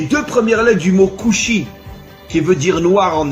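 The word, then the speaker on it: כושי: En hébreu, le mot noir se dit kushi.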